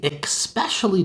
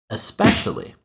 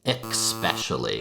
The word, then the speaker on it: especially: In fact, I just mispronounced our first word, especially. Notice the spelling here. There's no K, there's no X, just an S.